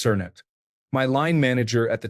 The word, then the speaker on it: Knut: Knut pronounced Cernut.